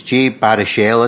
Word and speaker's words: Jay Baruchel: So, and hopefully I pronounced his name correct, it's Jay Baruchel, isn't it?